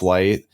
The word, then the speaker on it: Light: the kanji for moon, but his name is pronounced Light.